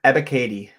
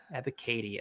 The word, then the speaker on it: Ebiketie: Ebiketie. Ebiketie.